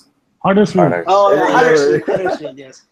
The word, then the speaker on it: Huddersfield: That's not how you pronounce it. Huddersfield.